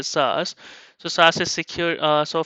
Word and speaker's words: SaaS: so we typically see SAS SAS this is pronounced a sauce so SAS is secure